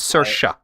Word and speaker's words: Saoirse: I know it's spelled. It's Irish. It's Saoirse.